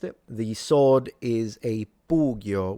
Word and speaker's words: pugio: The sword is a pugio with the u being long.